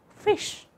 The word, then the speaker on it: ghoti: As Shaw argued, GHOTI may be pronounced as fish.